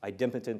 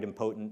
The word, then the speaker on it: idempotent: leads to something um about idempotent or em potent depending on how you want to pronounce it processing and the whole